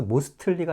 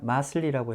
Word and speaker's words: mostly: STL 겹치면 영어에서 T 발음 안 합니다. 그래서 mostly가 아니라 mostly라고 하셔야 돼요.